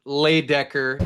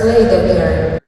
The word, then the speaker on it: Leydecker: They are saying Leydecker. With our men B representing USA, Everest Leydecker. I'm so used to it, it's hard even to say it wrong now, but they were saying Leydecker at the UWW event, so they have it wrong on the loudspeaker.